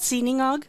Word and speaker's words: sinangag: but there's a Filipino dish called, is it sinangag? There's... What the garlic croissant is based off of. Oh, it's called sinangag.